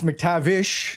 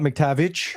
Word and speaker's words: McTavish: It's McTavish, not McTavich.